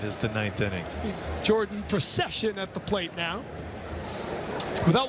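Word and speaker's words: Procyshen: is it makes sense Pro session it does oh the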